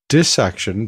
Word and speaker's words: dissection: around to that question how do you pronounce it I think there's a really strong case to be made that the correct pronunciation of that word is dis section because the first word part is dis not dice or even die now there is a